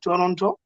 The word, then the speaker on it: Toronto: okay ah yes sorry you said the t is silent yeah not the first the second one moving on swift i